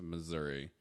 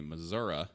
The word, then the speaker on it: Missouri: and Fort Smith Missouri or as somebody once told me Missouri and I looked at them like they just grew a norm out of their face uh uses people that are from Missouri mispronounce it that way yeah Oklahoma City we